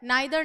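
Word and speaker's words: neither: लोगों को पता है नाइदर नॉर या नीदर नॉर क्योंकि प्रोनाउंसिएशन ब्रिटिश अमेरिकन में अलग होता है तो ये जो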